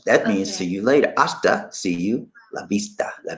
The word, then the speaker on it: hasta: Y'all know what hasta la vista means, right? Hasta la vista. Hasta. You don't pronounce the H.